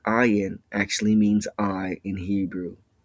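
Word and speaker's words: עין: Now the sound or the full pronunciation of this letter is ayin, but you never say the full pronunciation in a Hebrew word. You only say the first sound, I, like the I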